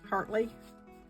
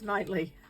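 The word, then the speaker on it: Knightley: Hartley. Nightly. It's Nightly.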